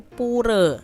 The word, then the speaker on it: Pura: Hindu itu ibadahnya di Pura adik-adik ya atau kalau orang Bali itu bacanya bukan pura tapi pure ya Nah untuk hari besarnya